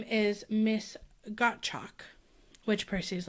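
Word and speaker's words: Gottschalk: Um, which I do think I wouldn't know to pronounce it that way because there is an S in there and I'd probably say gotch personally. Yeah, it might be gotch, but Percy's thinking like got chalk like he's sure out of it.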